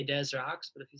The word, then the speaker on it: Des Rocs: You can pronounce it either or. Like I had somebody just from France asked me today how do you pronounce it. And I was just like, I like the ambiguity in the name and in art in general, but I say Des Rocs, but if you say